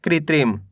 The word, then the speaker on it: कृत्रिम: क में ऋ की मात्रा कृ त में छोटी इ की मात्रा त्रि म। तिल के बन जाएगा कृत्रिम।